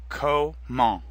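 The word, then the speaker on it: comment: come Kamal means how the final T is silent and before that the en makes the same nasal sound as in cone repeat after me koe mo come on come on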